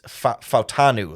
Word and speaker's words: Fautanu: I always want to say his name like Fashanu, and I end up starting to get them mixed up.